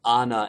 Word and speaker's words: Anna: frozen i was unaware that ana's name is pronounced anna and not anna that's how little i actually know about this